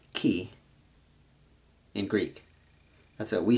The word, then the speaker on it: Chi: what we say I they say key and the RO is we say X and they say Rho so this is called key fro and key is where we get the word Chi which is spelled the exact same way she refers to life